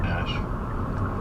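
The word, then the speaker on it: Æ: Ela musk's kids withes the AE is like pronounced Ash um yeah and then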